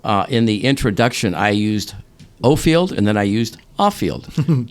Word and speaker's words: Offield: And finally, in my 20s, I kind of said to myself, maybe my dad knows how to pronounce his name. So. I started introducing myself as Offield, but that kind of threw off the older people from my life.